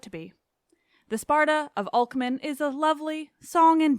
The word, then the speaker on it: Alcman: The Sparta of Alcman is a lovely, song and dance-filled Sparta.